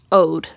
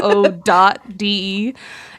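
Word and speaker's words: O.de: It's like the ode d. It's just ode. He's like music like a like an ode.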